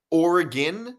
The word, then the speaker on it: Oregon: This dude pronounces Oregon like it rhymes with polygon. Yeah, I And saw that. I don't know. I didn't delete it. I don't know. Maybe the guy deleted it. I saw that comment, so I know exactly what you're. Yeah, I get criticized so much for the way I pronounce Oregon. Isn't that how you say it? No, it's Oregon.